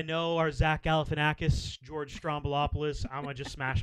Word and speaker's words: Stroumboulopoulos: Stroumboulopoulos?